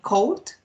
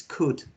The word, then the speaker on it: could: the verb, this verb, you tell me cold. Here, you tell me they said John cold. And remember that this verb is a modal verb, so the correct pronunciation is could, okay? The else doesn't sound here, okay?